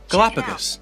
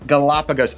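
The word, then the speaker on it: Galápagos: Galapagos. Galapagos Islands.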